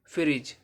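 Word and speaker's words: fridge: ई ब्रिज एफ आर आई डी जी ई फ्रिज यहां पर क्या है ये जी क्या है डी साइलेंट रहेगा अब सी कहां पर साइलेंट रहेगा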